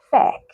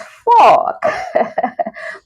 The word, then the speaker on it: fork: like like f yeah I hear a lot of people say this is fake no it's not fake it's it's Fork so it's Fork Fork